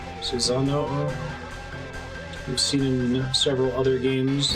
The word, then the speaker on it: Susanoo: from singing oh but it's pronounced Susan oh oh Susanoo we've seen several other